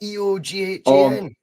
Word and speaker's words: Eoghan: His first name is like spelled like Ewan, but Eoghan. O'Connell?